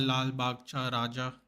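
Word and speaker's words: Lalbaugcha Raja: It's called Lal Bagcha Raja. That's how you say it in Marathi because obviously it's in Maharashtra and Bombay.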